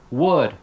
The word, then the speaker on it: would: you're teaching should could would if you're not telling your students that L is silent you're not doing your